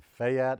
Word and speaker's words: Fayette: It's Fayette. It's one Fayette. syllable. It's one syllable.